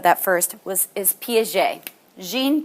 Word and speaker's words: Piaget: Is Piaget, Jean Piaget. P-I-A-G-E-T is how you pronounce that.